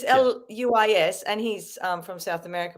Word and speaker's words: Luis: It's spelt the same as that, but it's Louise with a Z. But it's Luis, and he's from South America.